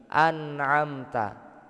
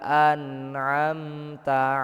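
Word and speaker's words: أَنْعَمْتَ: Kalimat ini an'amta itu seharusnya itu enggak ada yang boleh memantul. Huruf nun yang enggak boleh mantul.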